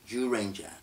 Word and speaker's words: Zyuranger: yes it's spelled like zu Ranger but it's pronounced like jus Jewish jus Ranger what you may or may not know about